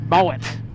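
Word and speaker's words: Moët: they change the name to Moe, but with a T on the end, you know, just like the champagne, right? And, you know, that was all good, except they finally realised that it's actually pronounced Moet.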